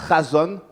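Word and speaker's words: חזון: On a vu que le terme révélation voulait dire chazon, ça se prononce chazon, qui veut dire vision, songe, communication divine, révélation.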